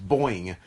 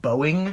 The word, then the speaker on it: Boeing: Mexico, and yeah, like, their biggest sponsor is Boing. And like, it's this really tacky green logo, and it's all, like, all over the ramp, all over the, like, guardrails. Scott, it's actually pronounced Boeing.